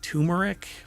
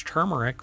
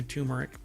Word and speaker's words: turmeric: lot of people pronounce turmeric but it's not and I've had people when I say it's turmeric with an r and they're like there's no R in that no really because it's